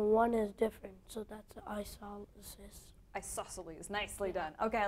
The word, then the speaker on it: isosceles: Isosceles? Isosceles triangle, because the I in the first letter is just like your eye in your face. And we have two eyes, so we can remember that by seeing there are two